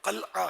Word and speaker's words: قلعہ: یہ حیدرآباد کا واقعہ، پکا قلعہ، پکا قلعہ، اصل تلفظ قلعہ ہے، یہ ہمارے قلعہ ہی بولتے ہیں.